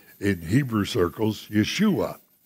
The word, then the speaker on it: Yeshua: say in hebrew circles yeshua which is the hebrew pronunciation of his name so the central text